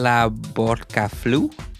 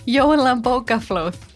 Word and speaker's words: Jólabókaflóð: A festive phenomenon with another unpronounceable word. Hollabokaflu? Jólabókaflöð. Jólabókaflóð.